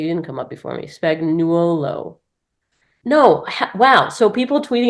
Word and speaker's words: Spagnuolo: Whose name is Spagnola. Not even Spagnolo or Spagnoli. It is straight up my last name, isn't it? No, it's Spagnuolo, but it's everyone pronounces No, it no, no.